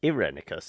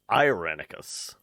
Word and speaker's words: Irenicus: your search for irenicus I've always been pronouncing it as irenicus it's so it's apparently it's irenicus okay but if you're